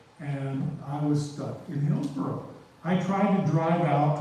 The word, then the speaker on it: Hillsborough: But I am going to say some things about Hillsborough. Or as I heard at one time, mispronounced Hellsborough. And I said, no, it is not Hillsborough.